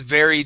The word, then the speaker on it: very: So, we have a W then a V. Okay. So, um, you had said was weary. Okay. So, we want to say the sky was very dark. Give me a good V sound there.